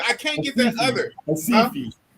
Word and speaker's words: Recife: Recife. Recife. Recife. Yeah, it's Recife in English, but you know the Brazilians don't pronounce the R's.